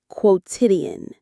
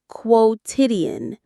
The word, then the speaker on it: quotidian: Quotidian. It's pronounced quotidian. The stress is on the second syllable.